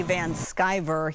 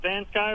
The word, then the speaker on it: Van Skyver: And you did a good job. Van Sky is exactly what it is.